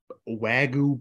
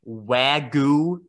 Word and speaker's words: Wagyu: And either week, I had this Wagyu beef stir fry. Wagyu? It's, yeah. I don't think that's how you say it. It's Wagyu beef.